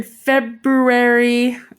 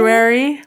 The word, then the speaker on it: February: Well, leave off the R. It's silent. February. It's the only word with a silent R in it, unless you're from Boston. Then I there's don't not a know.